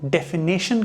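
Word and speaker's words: definition: Spelling है ये। अब इसका रिलेशन कहीं ना कहीं प्रोनंसिएशन से है। कई लोग इसको डेफिनेशन कहते हैं क्योंकि वो डेफिनेशन कहते हैं इस वजह से वो डेफिनेशन लिखते भी हैं।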